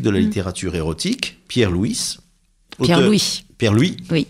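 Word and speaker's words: Pierre Louÿs: Pierre-Louis. Oui, Pierre-Louis. On prononce pas le S.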